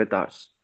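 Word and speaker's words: avatars: अब यह मैंने अवतार क्यों बोला साथियों? इसकी क्योंकि इसकी जो प्रॉपर प्रोनाउंसिएशन है एस पर दी डिजिटल वर्ड इसको बोलते हैं एतर्स।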